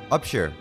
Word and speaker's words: Upshur: How do you pronounce his last name? Upsphere? Upshure? Upshure.